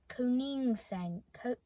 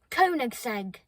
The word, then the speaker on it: Koenigsegg: Koenigsegg. Koenigsegg. Koenigsegg. Koenigsegg. I've learned how to say it now. Koenigsegg.